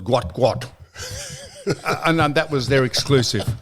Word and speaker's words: Gout: So they came back and said, we can announce exclusively that person we thought was called Gout is called Gwat.